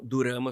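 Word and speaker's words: ドラマ: com sílabas assim né Então durama vem de drama é por isso que é durama Ah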